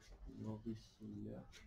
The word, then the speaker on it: auriculaire: Auriculaire. auriculaire. Ah pardon, j'ai peut-être mal... L'auriculaire. Voilà, ici on a bien le son que, que, c'est le son que.